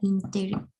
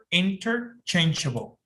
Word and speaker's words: interchangeable: Teacher, ¿qué significa y cómo se pronuncia interchangeable? Interchangeable. Interchangeable. Changeable. Ok. Ok. Muchas veces te vas a dar cuenta que esta T como que es muda.